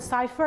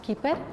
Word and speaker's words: Chiper: I've heard Cypher and other variations. It's actually pronounced Keeper.